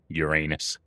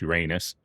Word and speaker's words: Uranus: Now we're working on the funny name Uranus. Well, the proper pronunciation is Uranus, but you know, we like we all like to say Uranus, but either way, it's like, however one likes to pronounce it, that's what we're working on now.